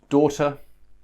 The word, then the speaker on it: daughter: And let's finally look at these three words which have the OR pronunciation. OR. So just like the OR over here, we had these OR with the OUGH, but these are spelt with the AUGH. So we've got daughter, we've got taught.